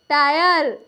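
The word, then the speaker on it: tire: higher यहां पे देखिए टी आई आर ई टायर एफ आई आर ई फायर ये क्या है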